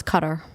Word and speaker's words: Qatar: No, it's cutter. The Arabic The Arabic way is cutter.